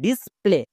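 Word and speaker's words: display: কারণ যেমন দেখো ডিসপ্লে এখানে এ এর ঠিক পরে ওয়াই আছে তার মানে এ তো ভাওয়েল ওয়াই সেমি ভাওয়েল যখন এ এর পাশে বসবে তখন ভাওয়েল রূপে আচরণ করবে এর জন্য সাউন্ড হবে একার যেমন ডি আই এস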